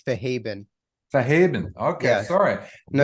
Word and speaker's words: Fahadbin: But it's Fahaben.